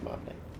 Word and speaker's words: Martinet: of Mario Charles Martinez it's pronounced um spelled martinet what do you pronounce martini because it's got the E.T thing yeah which is usually French background shut up I highly